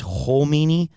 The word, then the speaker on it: Khomeini: there's Khamenei and you might be like you're pronouncing it wrong. I we're just going to be very clear. There's Khomeini and Khamenei, okay?